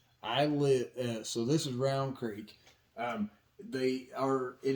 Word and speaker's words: Rowan: it is not pronounced rowan it is pronounced round okay it all runs together and it's pronounced round so just like this